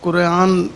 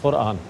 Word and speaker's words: قرآن: جی نہیں میں قبلہ کہنا چاہ رہا کہ تھوڑی تلفظ جو ہے ان کا جائے, وہ قرآن کہہ دیا انہوں نے, قرآن لفظ ہے قرآن.